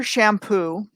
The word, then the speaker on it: Champous: There's a researcher named Peter Shampoo, and that's how he pronounces it. And he spells it Champous.